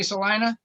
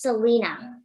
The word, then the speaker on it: Selena: hi you got me celina yeah where are you right now where are you located um my name is pronounced selena oh my bad selena mine